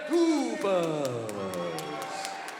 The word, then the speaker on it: Duffus: We have heard all three pronounced. I'm going with Duffus.